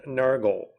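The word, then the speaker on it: Nørgaard: The way he pronounces his name in Danish is um it's according to him that's the proper way. So it just sounds like he's saying Nurgle, not Norard.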